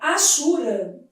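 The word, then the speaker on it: hachura: Na palavra achura. A letra H deve ser lida como gente. A letra H não é pronunciada na língua portuguesa, né?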